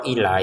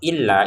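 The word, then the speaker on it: إِلَّا: Illanya kita tekan ya. Karena kalau ila itu artinya ke kalau illa itu kecuali.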